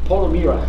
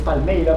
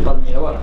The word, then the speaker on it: Palmeira: And so he was talking of this Irish Paul O'Meara. It's Palmeira, but he pronounced it like Paul O'Meara. It sounded Irish to me, but no, it's actually Palmeira.